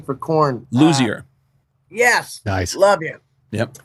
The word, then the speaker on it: Luzier: Ray Leo, how do you pronounce Ray's last name for Korn? Luzier.